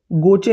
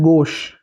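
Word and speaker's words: gauche: गोचे नहीं है ये। इसका प्रोनाउंसिएशन है गोश।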